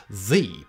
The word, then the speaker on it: ye: have yee as in ye old coffee shop while many people pronounce this ye in fact it should be pronounced simply the you see the ye